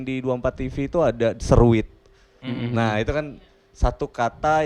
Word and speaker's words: Seruit: 24 TV itu ada Seruit. Nah, itu kan satu kata yang nyadur dari kulinernya Lampung gitu. Seruit kalau dibaca sama orang seruit. Tapi kalau orang Lampung bacanya seruit.